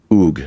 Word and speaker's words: Ug: of the logogram, but the way you would pronounce this was Ug, all right?